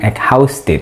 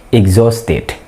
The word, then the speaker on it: exhausted: ada Hai ijtihad bukan exhausted ya Tapi bacanya Exo state existed berarti by retail